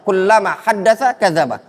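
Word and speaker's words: كلما حدث كذب: Nah, ini yang lebih tepat. Bacanya kullama haddatsa kadzaba. Setiap kali dia ngomong dusta.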